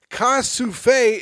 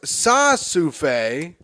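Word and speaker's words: ça suffit: Liza says, Ka-souffle is pronounced sa-souffle and means that's enough.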